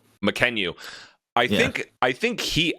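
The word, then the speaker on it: Mackenyu: you say Mariku the Zoro um oh Mckenyu Mckenyu I think I think he actually was the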